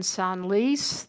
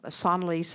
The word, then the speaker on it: Senlis: Olive was also in Senlis. The S is pronounced.